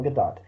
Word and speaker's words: Gadot: as Wonder Woman y yes that's how you pronounce her name it's Gadot okay yeah because I was I was going